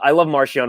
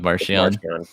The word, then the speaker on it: Marchion: By the way, the proper pronunciation is apparently Marchion. Marchion. We're sticking with Marchion.